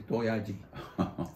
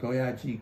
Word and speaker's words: 도야지: the word for a pig is doyaji. 3 syllables. So doyaji, good soria, 이제 왔노.